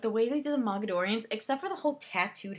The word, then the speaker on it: Mogadorians: did the Morgadorians, and I know I'm saying that wrong because I know it's spelled Moga, yeah, Ga something, I don't know, but I always put an extra R in there, so I always pronounce it Morgadorians when I read it.